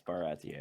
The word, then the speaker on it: Baratie: Did you say Baratier? Is that how it's pronounced? Yeah, I was wrong. Yeah, it's Baratier.